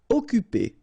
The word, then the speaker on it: occuper: Occuper. You don't pronounce the double C here, so it's really like occuper.